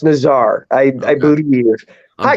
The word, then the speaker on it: Nazar: Naz I believe yeah I believe it's pronounced Nazar I I booty here